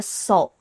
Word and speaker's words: salt: or it's pronounced, or it's spelled S-A-L-T, but the pronunciation is kind of like an O.